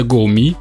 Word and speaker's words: Gome: Да, название у бренда стрёмное для наших ушей, читается GoMi, но вы же понимаете, в русскоязычной среде шуточное погоняло ему было обеспечено.